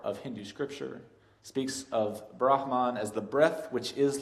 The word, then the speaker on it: Brahman: The pronunciation, it's a breathy sound, Brahman.